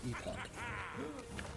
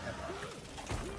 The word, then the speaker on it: epoch: eo's safe good no the British pronunciation is epoch American pronunciation generally is epic epic uh return to